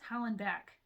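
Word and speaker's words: Hollandback: to pronounce it it's holland back just like it sounds back it's not beck or bach it's back just like we're back so uh i hope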